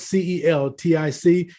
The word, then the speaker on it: Celtic: 2 000 years the Celtic people Nest spells c-e-l-t-i-c if you're into basketball you know about the